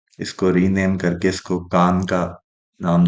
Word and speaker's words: Kaan: rename करके इसको कान का नाम दे दिया गया है जो टर्किश में शायद इस तरह से कान प्रोनाउंस होता है लेकिन हमारे साउथ एशिया में खान बोला बोलते हैं इसको तो इसलिए शायद प्रोनंसिएशन